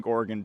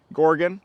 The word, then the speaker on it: Gorgon: Proto color glow Champion Gorgon to also you'll be happy to know I'm going to pronounce it right this time Gorgon not Gorgon not Gorgon orgon so even when I